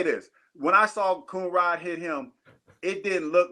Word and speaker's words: Coonrod: Because I didn't know if I was saying it wrong. No, you're saying Coonrod.